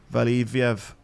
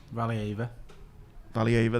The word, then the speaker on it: Valieva: So there's a banned Russian skater called Kamila Valieviev. I think that's how you say her name. Anyway, she was banned for having a drug in a system that she wasn't meant to have. Valieva, there you go.